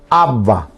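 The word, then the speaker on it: áva: Entonces, cabello yo digo en guaraní, abba, con acento en la primera A, es decir, en la parte grave, que si escribimos en castellano está mal, pero estamos escribiendo en guaraní.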